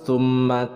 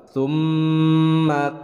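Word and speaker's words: ثم: Nah, mim bertasydid hukumnya adalah gunnah, ditahan 2 harokat. Jadi jangan langsung summa kalla. Nah, itu kurang tepat karena ini adalah gunnah, maka ditahan dulu 2 harokat. Summa kalla, tahan dulu.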